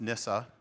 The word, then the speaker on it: NSA: Well, to quote the NSA, pronounced NISA, by the way, that's from their PR department told me that.